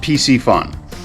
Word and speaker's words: Piscifun: looks a bit different but um it's it's pronounced PC fun and there's there it is right here looks